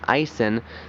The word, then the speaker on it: Aisin: It's an Aisin 6-speed automatic transmission.